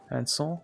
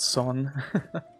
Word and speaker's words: Alençon: Alençon, maybe? That's definitely the better pronunciation. Alençon. Not Son. I was pronouncing it wrong the entire time.